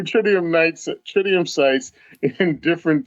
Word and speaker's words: tritium: ain't there yet trium tridium you don't know how to pronounce tridium like tridium night sights it does not look like it man it Tri titium okay offer tritium night tritium sites in